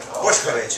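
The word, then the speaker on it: Bošković: Boskovik. What is that? It's Serbian, actually. Serbian. Boskovic, if you want to pronounce it the Serbian way.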